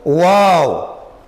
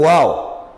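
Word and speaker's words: و: Nós encontramos o Waw, o som do Waw, quando os dois lábios juntarem-se incompletamente.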